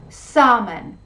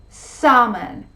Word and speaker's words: salmon: today we're gonna see eight words in which the l sound is not pronounced number one walk walk